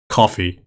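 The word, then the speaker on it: Ko-fi: did i just do i know it's spelt coffee or it's spelt kofi but the whole like business model seems to imply that it's meant to be coffee the mods are role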